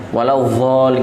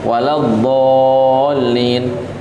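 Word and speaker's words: وَلَا الضَّالِّينَ: Bukan waladzallin. Bagian orang bacanya waladzallin. Nah, bukan itu, bukan makhrajnya, bukan tempat keluarnya. Yang benar waladzallin. Dan tasydidnya itu harus dibaca. Mungkin akan disebutkan nanti.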